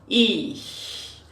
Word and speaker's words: ich: A gente não diz um sh, é diferente do sh do português, né? Nós dizemos sh. A boca fica um pouquinho aberta, e eu gosto muito da minha filha porque ela gosta de ensinar esse som dizendo como se fosse um gatinho.